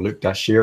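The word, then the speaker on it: Dashjr: or Luke Dashier, as I'm told that it's pronounced.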